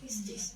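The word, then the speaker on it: πίστις: No, Pistis.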